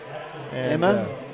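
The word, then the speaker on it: Emigh: i don't know uh it's spelled folks e-m-i-g-h emma emma emma um so we're gonna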